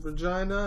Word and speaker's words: Regina: From Saskatchewan, Canada, Regina, and that's why it rhymes with fun.